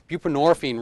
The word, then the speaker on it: buprenorphine: point that out because the orine buprenorphine rhymes with morphine right and so when